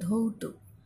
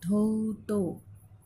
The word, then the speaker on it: ধৌত: অর্থাৎ দেখো এখানে রয়েছে ধৌত, ধৌত যখন আমরা উচ্চারণ করছি ধৌত, তয়ের শেষে একটা অকারন্ত শব্দ পাচ্ছি, তার মানে এখানে তয়ের সাথে সবসময় একটা অ যুক্ত থাকবে।